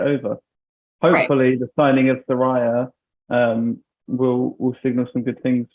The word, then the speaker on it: Saraya: Like she said it's pronounced Saraya, and someone said it's actually Saraya.